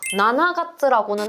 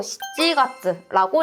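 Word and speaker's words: 7月: 7월이라고 할 때에는요 나나가츠라고는 하지 않고 시찌가츠라고 읽게 된다.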